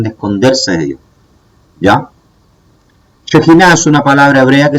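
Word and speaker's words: שכינה: No es Shekinah, es Shekinah, ¿ya? Porque lleva ahí una shin, como ustedes están viendo acá, y una het, ¿ya? Esa palabra se pronuncia como J, ¿ya?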